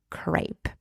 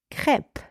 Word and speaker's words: crêpe: letter e super important this final e in that particular word is silent so you do not